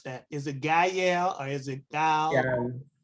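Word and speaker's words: gyal: Yeah, I think it's Gal. Yeah. Yes. One syllable. I would say Gala. Yeah. You say it in one breath is how I try to remember it.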